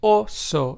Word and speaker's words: oso: So therefore, the Spanish word oso, which means bear in Spanish, is pronounced as oso and not oso.